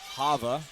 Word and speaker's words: Ha'va: now of let's go Hava or Hava I believe is how it is correctly pronounced according to him breaks the guard of